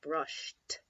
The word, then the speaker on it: brushed: the e D at the end and it's pronounced brushed again Edie sounding like a T how about